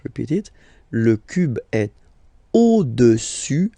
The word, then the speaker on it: au-dessus: Le cube est au-dessus du cylindre. So let's repeat it. Le cube est au-dessus, final S not pronounced here, au-dessus du cylindre.